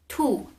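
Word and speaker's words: 兔: comes the rabbit and rabbit in haka is tu tu if you want to say rabbit just in regular everyday life like for example you see a rabbit and you can say two i call not a tool but you can also say tu tai tu tzai adding zai at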